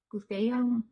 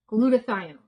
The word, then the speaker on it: glutathione: Glution glutathione. That's how it's pronounced.